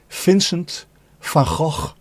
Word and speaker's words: Vincent van Gogh: off his own ear, is pronounced Vincent van Gogh. There you go. V is pronounced as F. Vincent van. Vincent van. And then G is G.